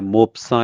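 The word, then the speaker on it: Maupassant: मोपसा या मोपासा दोनों तरह से प्रोनाउंस होता है। टी जो है फ्रेंच नेम्स के एंड पे साइलेंट होता है।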